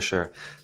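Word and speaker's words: Sung: to see yeah for sure thanks for that word to intro yourself please yeah yeah exactly perfect segue hey folks my name is Su rhymes with lung like the air you breathe and excited to be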